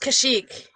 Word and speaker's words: Kashyyyk: There's 3 Y's. It's okay. And it's pronounced Kashyyyk.